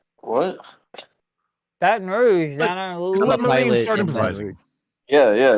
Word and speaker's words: Baton Rouge: Baton Rouge down.